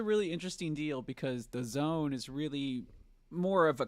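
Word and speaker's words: DAZN: entertainment announced a partnership that uh with the Zone b-a-z-n our uh Jordan and Eddie from fighting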